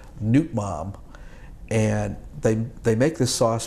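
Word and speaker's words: nước mắm: It's pronounced Nut Mam. Nut Mab? Yeah, Nut Mam.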